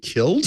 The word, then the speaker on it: kiln: that is that one has to be killed k-i-l-n he's pronounced is also correct because you are going